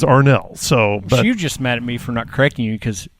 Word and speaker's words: Arnall: She was like, "It is pronounced Arnell." I was like, "What? Oh yeah, sorry." And yeah, so since then I have been like on a razor's edge. It is Arnell.